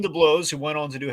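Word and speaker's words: DeBlois: uh deemed a blow which by the way we've been saying it wrong all these years by the way i double checked so apparently it's definitely oh no yeah so dean the blows who went on to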